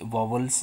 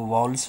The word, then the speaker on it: vowels: बहुत बच्चे वॉवल्स को वॉवल्स बोलते होंगे, तो मैं एक बार बता देता हूँ कि वॉवल्स नहीं, वो वॉल्स होता है। अगर आप गलत प्रोनाउंस करते हैं तो सही है उसका वॉल्स।